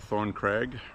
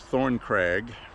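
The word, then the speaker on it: Thorncrag: It's actually a crag. C R A G. So, it's Thorn Craig, and it is uh the Stanton Bird Club.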